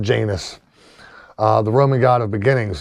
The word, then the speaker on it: Janus: And this was partly to honor the month, the namesake of the month, Janus, not pronounced Janus, the Roman god of beginnings, whose two faces allowed him to look back into the past and forward into the future.